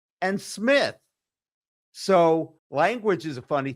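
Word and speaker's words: Smyth: And when I got there, I pronounced them wife and smite, but they pronounced them with and smith.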